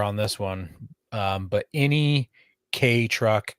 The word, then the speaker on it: Kei: For those that don't know, a K vehicle is a vehicle that comes from Japan. It's spelled KEI.